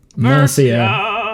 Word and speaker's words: Mercia: Mercia. It's a soft C, thank you, instead of a hard C.